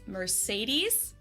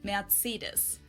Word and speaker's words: Mercedes: So most Americans call this Mercedes. In German, we pronounce it Mercedes. So Mercedes versus Mercedes. Mercedes. So it's really pretty different.